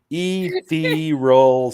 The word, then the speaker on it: ethereal: Ethereal sisters. Ethereal. Okay. If I was right Or beside her. no, it's actually ethereal. That's how it's pronounced.